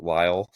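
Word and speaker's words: Lisle: um northern is uh in ly Illinois you spell that l i s l e Lyall uh no one would ever guess that but it's in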